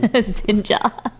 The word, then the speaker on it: Xinja: Xinja. Xinja. Xinja. Yeah. Xinja. Like ninja. But Xinja.